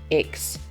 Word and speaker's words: ICCS: and transferred to iccs short for inter-tribal community charter school and pronounced aches i really thought things